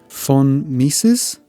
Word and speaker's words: von Mises: I think it's pronounced the von Mises, and it basically shows the pressure in the metal in different areas.